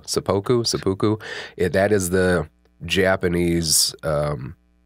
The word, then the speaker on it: seppuku: what I did find and I think I'm pronouncing this right seppuku sepoku that is the Japanese um a situation or